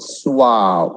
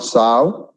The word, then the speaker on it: suave: I mean, who is educated, who is well cultured, is called suave, not sav, suave. Next.